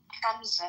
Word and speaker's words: Hamza: Hamza, not Hamza. We have to teach you how to say the ha correctly.